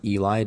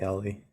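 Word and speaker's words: Elly: just call him Eli is that actually how you pronounce it it's not L I've heard both is it Ellie or Eli I don't know literally no one has ever spelled Eli e-l-l-y it's Ellie for sure bro it has to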